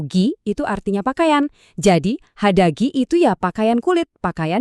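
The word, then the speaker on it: 肌着: Dibacanya hadagi.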